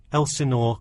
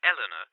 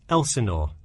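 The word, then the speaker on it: Elsinore: my address is 45 Elenor Court I'm sorry was that Elena could you spell that for me sure it's Elenor e l s i n o r e okay thanks and is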